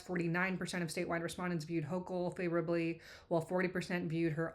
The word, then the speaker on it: Hochul: We are looking at how to pronounce these names as well as how to say more interesting and often mispronounced names from US politics. Kathy Hochul.